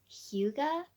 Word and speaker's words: Hygge: It's spelled Hygge, I think, but it has like a little pronunciation thing under it that says Hyuga, and so I totally would have purchased that. I would not have guessed it was Hyuga, but look at this.